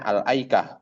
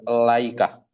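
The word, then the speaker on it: الأيكة: Nah, kalau antum mau ibtidak situ, maka tetap bacanya al-aikah, bukan al-laikah.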